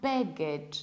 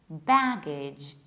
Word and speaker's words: baggage: And a very similar one is baggage, not baggage, not bagage, not baggage. It's baggage. So we have the same ending.